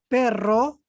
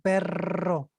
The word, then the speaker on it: perro: so for example we say pero we use one r means but why we use perro is dog by you can listen my pronunciation perro yes any other words